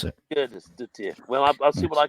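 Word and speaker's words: Sigurðardóttir: Ursa Sigurdardottir is how I pronounce it. Sigurdardottir.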